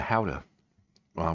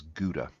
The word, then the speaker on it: Gouda: Um to me I would consider it something in between cheddar and howa u which Americans pronounce as guda.